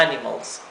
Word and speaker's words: animals: es Animals Animals sí es una palabra esdrújula el acento está en la a Animals tenemos la palabra dog